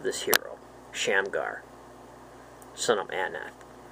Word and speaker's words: Anath: hero, Shamgar, son of Anath. This is probably the goddess Anat, with th sound at the end. It looks like the same spelling.